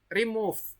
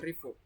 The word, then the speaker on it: remove: lawannya itu yang remove Remove bukan rove remove itu bacanya benar remove ya tadi bacanya Salah ya remove G Nah itu